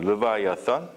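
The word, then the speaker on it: Leviathan: 이 리워 야단이라고 하는 것은 우리나라 말로 이렇게 리워 야단이라고 이렇게 번역을 해서 이제 그런데, 이 영어로다가는 르바이아선 이렇게 발음을 합니다. 르바이아선.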